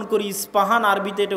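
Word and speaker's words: اصفهان: আমরা প উচ্চারণ করি ইস্পাহান আরবিতে এটা উচ্চারণ হয় না আরবিতে হয় আল আসবাহানি বা উচ্চারণ হয় ইসবাহান বা আসবাহানি সেখান থেকে 70 হাজার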